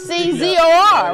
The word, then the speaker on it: Kaczor: Yeah, because it's Kaczor, right? Yeah. I know how to spell it real good.